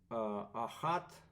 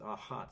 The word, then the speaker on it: Achat: Yeah, in German, I think they pronounce it Achat.